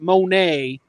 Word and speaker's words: Monet: where they got the typo is because it's pronounced monet like the painter not the